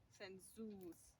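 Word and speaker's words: sensūs: But usually, the plural has a long u, like sensus, not sensus, sensus.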